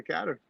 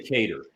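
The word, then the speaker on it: Kattar: that first round to quatre yeah i pronouncing his name properly captain they say cater cater okay sorry cater yep that's the end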